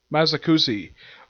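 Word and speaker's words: Mochizuki: How do you pronounce his last name? It is Masakushi.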